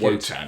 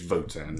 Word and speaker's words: WOTAN: I'll go for Votan. Votan, okay. I used to call it Wotan actually, but it's Votan. It's pronounced with a V.